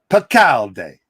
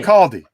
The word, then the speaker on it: Bacaldi: Did I say it right? One day you're going to get my name right, Rob. One day. Bacaldi. It's Whatever. Bacaldi. Whatever. But the real thrill here. It's Bacaldi. It's Bacaldi.